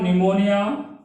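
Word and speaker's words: pneumonia: मैं लिख रहा हूं, प्लूरो, पी फॉर निमोनिया, यहां पे पी साइलेंट हो रही, एल फॉर होता है लाइक, ओ फॉर होता है ऑर्गेनिज्म।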